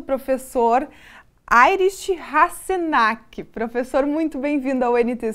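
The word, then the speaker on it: Heinrich Hasenack: Ele que já confirmou que é assim a pronúncia do nome, né, professor? Uma ótima tarde. Obrigada por ter aceito o convite. Boa tarde aos telespectadores, muito obrigado pelo convite, a pronúncia foi perfeita.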